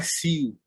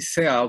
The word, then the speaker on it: Seal: Não, a pronúncia original é Cio, Ok. que é o Cio, feito o cantor.